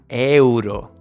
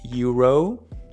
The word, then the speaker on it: euro: I know that in English those vowels often slide, but in Spanish the vowels are so important for any word. It's the key, actually. And in Spanish, all the vowels are going to have the same sound and pronunciation no matter where they are.